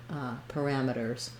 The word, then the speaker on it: parameters: Then lastly, in American English, we always say the R whenever there's an R sound. In British English, this would be more parameters with a vowel there. Here we have the parameters. It is unstressed. Keep it light. You don't want parameters, but you do need that tight back American R.